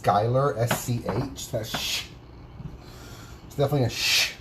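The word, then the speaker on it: Schuyler: read the lyrics and they see shyler but it's pronounced skyler sch that's definitely a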